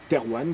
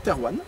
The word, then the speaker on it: Thérouanne: ville principale, ville capitale si on peut dire, Terwan, qui à cette époque s'appelle Terwana ou Tarwena.